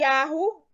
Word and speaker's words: Yahu: Esses dois exemplos mostram que a pronúncia do trigrama é Yahu. Não tem dúvida que é Yahu.